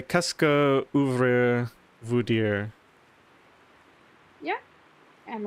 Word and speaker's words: qu'est-ce que: But if you're saying it right, saying it fast, sorry, it sounds like qu'est-ce que. Oh, kesku.